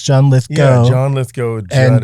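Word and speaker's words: Lithgow: Here's how you remember. Okay. It's Abatau and Lith Go. Oh. Cuz people get people flip both of those. They say John Lithggo. John Litho. It's John Lith Go.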